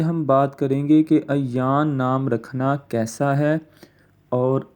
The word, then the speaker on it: ایان: تلفظ بھی سنتے جائیں، تلفظ اس کا ایان نہیں ہوتا بلکہ ایان، عین کے اوپر زبر ہے اور یا کے اوپر شد ہے، ایان۔ اس سے بھی بہتر